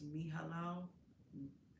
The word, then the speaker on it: Mihailo: On YouTube, Anna asks, what does Mihailo?